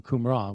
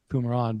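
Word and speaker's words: Qumran: Scrolls some won't be familiar with the term kumran which was spelled with a q kumran but it's the location where the uh the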